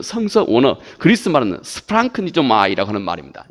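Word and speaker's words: σπλαγχνίζομαι: 이 말의 그 그리스 말은, 이 말의 원래 그 성서 원어 그리스 말은 스프랑크니조마이라고 하는 말입니다.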